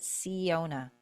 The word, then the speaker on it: Syona: It's spelled Syona. And she said, I pronounce it Siona. She said, like, the seer, to see.